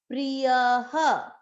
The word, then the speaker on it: प्रियः: य के बाद में विसर्ग, वही सेम उच्चारण करेगा, यह, स, च, में, प्रियः। यहाँ पर ह क्यों किया विसर्ग का उच्चारण? क्योंकि य में मात्रा है अ की, प्रियः।